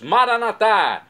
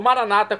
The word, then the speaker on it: Maranata: aramaico dialeto de Jesus maranat como dizemos nós católicos ou Maranata como dizem nossos irmãos separados os evangélicos ou protestantes não importa pronúncia o significado é o mesmo vinde Senhor Jesus um